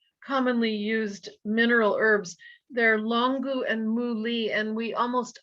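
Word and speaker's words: 龙骨: They're longu and muli, and we almost always use them together in formulas.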